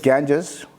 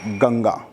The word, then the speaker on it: Ganga: also known as bhagirathi the western or the english named it as ganges but would like to on the prompt pronunciation of it ganga so ganga would have